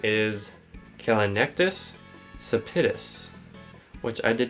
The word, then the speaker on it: Callinectes sapidus: of the blue crab whose scientific name is kinus sapitus which I did not pronounce right so it's on screen right now